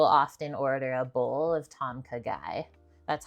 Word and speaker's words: Tom Kha Gai: food I will often order a bowl of Tom KY that's how you say it it's not spicy